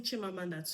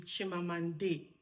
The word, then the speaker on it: Chimamanda: You're not twisting Chimamanda to be Chimamande because my friend just shared this story with me.